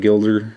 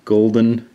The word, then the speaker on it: gulden: This is a 2.5 Gilder, or 2.5 Gulden coin, depending on your pronunciation, from Curacao.